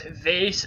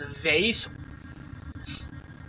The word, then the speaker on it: vase: Do you pronounce Vase as Vase? Like a Neanderthal. By pronouncing the S as a Z.